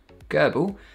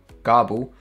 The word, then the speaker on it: GRBL: GRBL, which can be pronounced as GRBL, GRBL, GARBL, or even GRBL, is some free open source software which is used to control CNC machines.